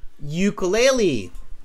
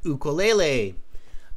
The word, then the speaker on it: ukulele: Definitely it's the ukulele, or as some pronounce it, ukulele. So if you pronounce it as ukulele, fine. If you pronounce it as ukulele, fine. Examiners are experts. They will understand both as long as it's one of the correct pronunciations, okay?